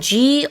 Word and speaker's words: gourmet: gourmet is spelled Gourmet. There's a T at the end that is not pronounced.